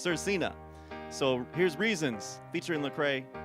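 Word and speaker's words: Svrcina: the name Sir Cena, because it's spelled S-V-R-C-I-N-A. And I kind of joke, sometimes artists just need to spell your name out, so I know how to say it. But I looked it up, and it is pronounced Sir Cena.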